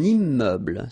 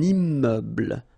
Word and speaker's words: immeuble: Un immeuble. So you can see I'm making this little liaison between the two. Un immeuble. Final E, not pronounced.